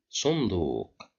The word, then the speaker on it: صندوق: Sunduq, صندوق صندوق. Here we have the letter dal controlled by Dhamma, and we have wow right after the dal, so we will pronounce it with long Dhamma.